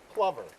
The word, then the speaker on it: plover: it's a piping Clover a lot of people call it a clover because of the way it's spelled but it's actually Plover like the word lover I'll add that one